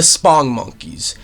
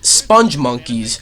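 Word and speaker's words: Spongmonkeys: Thought of the Spong Monkeys. And no, it's not supposed to be Sponge Monkeys. It's not spelt that way. It's spelt Spong Monkeys.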